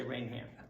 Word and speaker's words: Raynham: Right here in Raynham, because I know all about this controversy, how to pronounce the town. Raynham, Raynham, Raynham, Raynham. So I'm very careful I say Raynham.